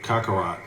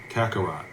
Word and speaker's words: Kakarot: This man, I said his name wrong, too. King Kako Kakarat. Kakarot.